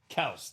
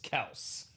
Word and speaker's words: Kelce: His name is actually pronounced Kels, technically. Proper pronunciation is Kels. Yes. But I think we all call him Kelsey now, and, he's went with it.